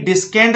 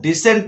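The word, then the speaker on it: descend: Next है डिसेंड, तो डिसेंड में भी डिस्केंड नहीं पढ़ना है आपको, डिसेंड पढ़ना है।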